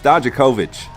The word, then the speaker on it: Dijakovic: It's Dijakovic.